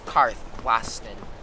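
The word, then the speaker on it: Karthwasten: little ridiculous to me almost decarthlaston harth wayston cath wayston no it's karthwastin all right watts car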